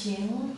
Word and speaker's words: 晴: This character is pronounced as Qing, and basically means a clear, as in the weather, like a clear day.